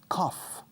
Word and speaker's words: cough: Cough. Cough is toser, to cough. Suena igual que coffee, café. coffee, quitando I al final, cough, to cough.